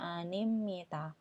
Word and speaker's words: 입니다: ga tambah animita ya penulisannya anibnida tapi dibacanya animita contoh kita pakai kata